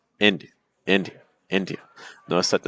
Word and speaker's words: India: So like India, India, India. Notice it's not India or India, it's India. Notice how the stress pattern completely changes the experience of the word.